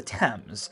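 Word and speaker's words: Thames: a mes so I've always pronounced it as themes however it's spelled the same way as the English river that flows through London which of course is pronounced the temps this makes sense in a way given that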